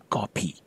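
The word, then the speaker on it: ကော်ဖီ: The word for coffee is, well, kopi, Burmese pronunciation of English word coffee, so you end up with kopi.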